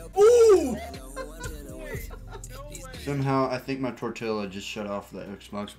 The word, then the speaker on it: tortilla: supposed to pronounce it the way they pronounce tortilla. It. It's a Spanish word. It's not an English word.